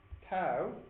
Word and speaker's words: Tau: Tau, T-A-U, gamma. You know your Greek letters from school, don't you? What's the first one? Alpha. T-A-U.